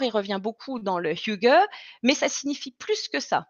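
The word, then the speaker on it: hygge: et porte un nom vous lisez higuey hqe y de ge et ça se prononce fugue alors higuain on peut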